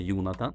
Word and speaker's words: Jonatan: So my name is Yunatan. In Swedish we say Yunatan and there's different ways of pronouncing my name in other languages but anyway I was